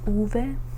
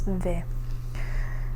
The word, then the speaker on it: uve: Some people pronounce it as uve, and some people pronounce it as ve. I usually say uve, which would be like this.